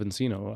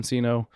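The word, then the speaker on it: nCino: a very custom say a company that rhymes with cappuccino cappuccino okay so Kyle's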